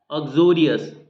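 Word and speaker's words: uxorious: है एटसेट्रा है ना ऑ्जोरियस यू यहां पर साइलेंट है ऑ्जोरियस का मतलब क्या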